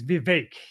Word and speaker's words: Vivek: Well, it's, I learned the other day it's Vivek. Vivek, say it like cake.